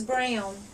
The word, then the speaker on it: Braun: someone's last name is brown you have to do a c also for Braun that's actually spelled um pronounced Brown like that just like it